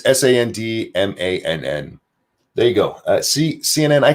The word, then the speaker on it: Sandmann: It's Sandmann. There you go. CNN, I can even, YouTube, I can even spell it.